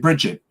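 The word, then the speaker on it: Brigid: it almost like a it's got a soft G on the end yeah um and Peter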